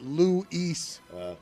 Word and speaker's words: Luis: It's Luis. The way that you make it two syllables. The way that you make it Luis.